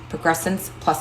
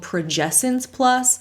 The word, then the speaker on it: Progessence Plus: she keeps calling it progressin plus when it's actually called progessence plus progessence as in the hormone progesterone but she keeps adding an r in there somewhere where isn't one